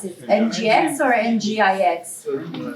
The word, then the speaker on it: Nginx: NGIX. Okay, in Italian we say Nginx also. So it really depends. How do you say it in Britain? Nginx? I thought everyone said it in a different way.